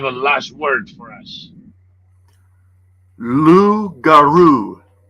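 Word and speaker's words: loup-garou: Lou Garou. Lugaroo, I like it. It rhymes with kangaroo, which Mhm.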